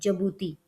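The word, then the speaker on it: Djibouti: Eritrea का तो पता है, और जबूती, हाँ सॉरी जबूती, उसकी प्रोनाउंसिएशन है, वो यहाँ पे कंट्रीज़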